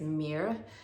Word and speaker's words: myrrh: The scent is myrrh and pronounced there. It's mirror.